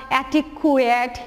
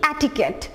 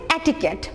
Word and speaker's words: etiquette: দেখো, এটাকে যদি আমি অ্যাব্রাফ্টলি বলতে দেই, তুমি হয়তো বলবা অ্যাটিকুয়েট, অ্যাটিকিউট, লাইক দিস। উচ্চারণটা কি? অ্যাটিকেট। উচ্চারণটা হচ্ছে এটিকেট, বাংলা হচ্ছে আমরা লিখেছি,